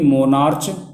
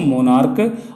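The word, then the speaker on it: monarch: जैसे मोनार्क, जिसका मतलब राजा होता है, इसमें सी एच अंत में आया लेकिन सी एच का प्रोनाउंसिएशन चा नहीं है, यानी मोनार्च नहीं पढ़ेंगे इसको मोनार्क, और इसलिए इसका जब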